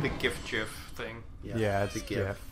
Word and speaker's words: GIF: It's GIF. It's GIF. It's a hard G.